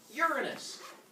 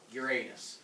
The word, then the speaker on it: Uranus: Then we'll get to the next one, pronounced Uranus, not Uranus.